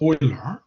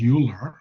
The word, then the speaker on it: Euler: So Euler was, it's pronounced Euler, right? In honor of his, German heritage. You don't call it Euler. I mean, if you call it Euler, you are, in a